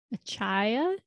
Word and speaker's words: Achaia: so we are in acai i think that's how you say it a-c-h-a-i-a in greece um